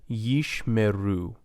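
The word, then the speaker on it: ישמרו: Yishmeru, yishmeru. So the first schwa is silent, the second is vocal.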